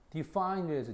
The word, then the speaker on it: define: 근데 define이라는데 발음을 잘 보세요. define에서 뒤쪽에가 있다 그지? 규정하다 또는 정의를 내리다, 정의하다라고 할 때 define 뒤로가 있다. 강세가.